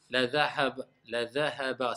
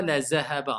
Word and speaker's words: لذهب: La dhahaba, c'est léger le ha. La dhahaba, vas-y. لذهب بسمعه. Et c'est pas la zahaba, hein, parce que certains, quand ils prononcent le dhal, on dirait c'est le zay.